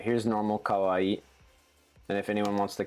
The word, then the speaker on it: kawaii: a little I'll say as far as pronunciation goes it's a little trickier and like awkward um if you practice it or especially if you can listen to it somehow um maybe I'll I'll say it and if you want you can like clip it or something but it's like so normal Kawaii I'll do it like